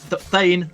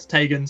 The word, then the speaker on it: Thane: I have been informed that he goes by the name Thane, not Tegan.